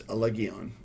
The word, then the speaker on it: Allegaeon: And the band is, I think the pronunciation is correct. I believe it's Allegaeon.